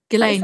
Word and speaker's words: Ghislaine: Ghislaine, yeah.